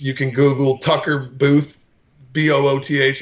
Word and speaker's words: Booth: If you really just want to find all the links, you can Google Tucker Booth, Booth, like telephone booth.